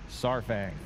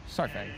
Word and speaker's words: Saurfang: And the funny one about that one is the pronunciation of Saurfang. Saurfang. No? Sour? Saurfang. Saurfang. Sour. Say it with me. Saurfang.